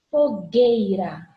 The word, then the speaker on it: fogueira: Fogueira. Tá vendo que eu não pronuncio o U?